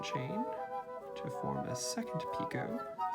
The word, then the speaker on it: picot: can be mispronouncing that spelled p-i-c-o-t my french pronunciation wants to say pico it could be pick it i have actually now i think that's probably pick it whatever uh chain five